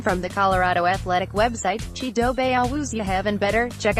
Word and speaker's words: Chidobe: say his name from the Colorado athletic website cheedo Bay always you heaven better check out how he